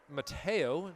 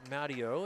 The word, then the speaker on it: Mateo: It's Mateo, not Matteo, as I was saying it wrong throughout the first half of this game.